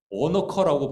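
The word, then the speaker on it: onycha: 나감향은 오너커라고 발음한대요. 오너커.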